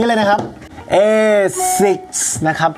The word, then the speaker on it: ASICS: นี่ เลย นะ ครับ เอซิก นะ ครับ ผม อ่าน ว่า เอ สิค แนว เป็น ครั้ง แรก